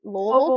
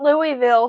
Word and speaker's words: Louisville: local so Alani was started in Lille Kentucky that's where not Louisville to anybody watching who doesn't know how to pronounce it Louisville Kentucky and I